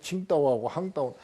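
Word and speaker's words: 青岛: 이 다리가 지금 세계에서 제일 긴 다리인데 청도하고 황도, 여기서는 저 중국 발음으로 하면 칭다오하고 황다오인데 여기를 지나갔거든요.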